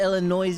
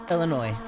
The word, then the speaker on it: Illinois: confuse the tourists Illinois I like to call it Illinois because like you know you know like Bring the Noise you know what I'm saying but yeah it's pronounced Illinois yeah it is kind